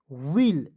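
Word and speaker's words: will: से छोटी ई की मात्रा डबल एल का उच्चारण ल के रूप में करेंगे विल डब्लू I double L वल के आई डबल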